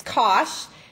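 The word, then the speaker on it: cosh: then an X and we say Kos like it's funny it rhymes with um what did he say it Rhymes sorry hold on he gives you a little rhyming with gosh so I have it wrong it's Kos and then the hyperbolic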